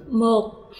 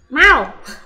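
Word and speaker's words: មក: 모에 미리 들어있는 이 쓰라 오 발음 그대로 해주면서 뭐라고 읽어주세요? 목 모, 그렇죠. 마오 네?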